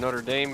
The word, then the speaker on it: Notre Dame: How would you pronounce that? Oh, yeah. Hunchback of Notre Dame. You're talking about Is that Is that how you pronounce it? Is that how you pronounce it? Yeah.